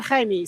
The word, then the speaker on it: Jaime: somebody here with him I'm gonna ask that person how you say his name and I just checked with his mom I think and she said Jaime so Jaime Australia made